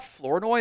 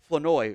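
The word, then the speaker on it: Flournoy: also realized it's not floro there the r is silent in his name it's it's Ryan flenoy or something like that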